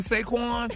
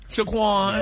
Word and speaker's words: Saquon: No, that's his name, Saquon. Yeah. What did you just say? Shaquan. Saquon. No, you're not going to put him in the community. Yeah, put some respect on his name. Say his name right, dog.